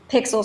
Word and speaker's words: PxL: pixel script so sorry is it pixel script pixel script yeah you can say pixie script too either one but yeah it's technically pixel script pxl is how it's spelled so yeah i think